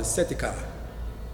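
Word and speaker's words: Sitecah: red-haired giants called the Setika. S-I-T-E-C-A-H is how it's pronounced.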